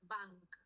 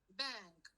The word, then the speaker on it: bank: lar perd B vean la pronunciación no es Bank es Bang Bang como que la a se transforma un poco en una e rodar el avión hacia